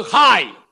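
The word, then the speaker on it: חי: word heap word வந்து ஹாய் சொல்லுங்க அந்த வேர்ட் என்ன ஹாய் சிச் ஏய் அதை உச்சரிக்கும் போது ஹாய் அப்படித்தான் உச்சரிக்கணும் ஜீவனுக்கான எபிரேய வார்த்தை ஹாய்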